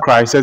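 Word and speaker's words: Chryseis: The daughter, Crisis, is spelled C-H-R-Y-S-E-I-S.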